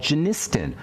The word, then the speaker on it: genistin: Inhibitors you may have heard of something called genistin or daidin almost all female Health supplements will